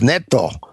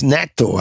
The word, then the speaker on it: natto: How do you say that again, Elio? It's natto, I think. Natto, is that right? I think that's right.